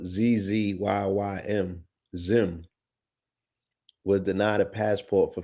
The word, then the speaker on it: Zzyym: So the person's name is spelled ZZYYM. Zim was denied a passport for failing to check male or female on an application.